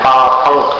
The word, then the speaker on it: पापं: पापं क्षणात् क्षयमुपैति शरीरभाजाम् पापं पंक जैसा उच्चारण पंक पापं क्षणात् यहाँ रुक जाना क्षयमुपैति शरीरभाजाम् शरीर भाजम नहीं, शरीर भाजम।